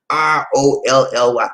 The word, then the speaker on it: Rolly: i forgot to spell r-o-l-l-y rolly it rhymes with holy and ain't nothing holy